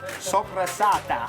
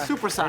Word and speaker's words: soppressata: Soppressata. Soppressata. That's the sausage we make, right? Yes. Soppressata. It's not supersat.